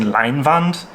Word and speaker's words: Leinwand: Now, if you're a German, or if you're somebody who knows your Hochdeutsch really good, you might think, are you just mispronouncing Leinwand?